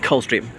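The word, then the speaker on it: Coldstream: of england as in cold stream but they also pronounce without the d like cold stream and as often known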